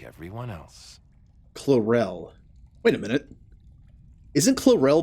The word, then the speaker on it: Chlorel: I think it's Chlorel, not Clarel, but it just reminds me of it. Apophis' son in the first season of Stargate SQ1. It's Chlorel in the show.